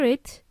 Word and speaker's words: aisle: I I know right who would have thought there is an s in that word but there is and